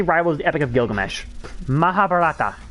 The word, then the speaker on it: Mahabharata: Mahabharata. That's how you say it.